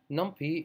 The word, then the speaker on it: NumPy: NumPy, or as some people pronounce it, NumPy, is a really powerful array library or array package that can be added to the standard Python.